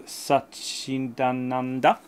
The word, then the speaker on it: Satchidananda: And this Journey into Satchidananda, exactly like that. That's exactly how you pronounce it.